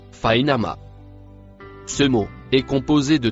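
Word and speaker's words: فإنما: Le mot en vert se prononce fainama.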